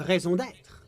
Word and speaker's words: raison d'être: Stability is the raison d'être of the Moral Intern. Oh, that's how you pronounce it. Raison d'être.